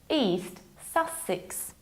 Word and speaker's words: East Sussex: East Sussex.